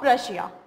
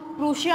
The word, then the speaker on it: Prussia: Austria and king of प्रशिया। National Assembly declared war against Austria and Prussia। इसको हम प्रूशिया announce नहीं करते हैं, इसको हम प्रशिया प्रोनाउंस करते हैं, जो कि बाद में